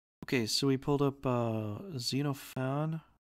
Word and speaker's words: Xenophon: Okay, so we pulled up Xenophon. Xenophon. It's actually, if you pronounce it right, it's Xenophon. Xenophon.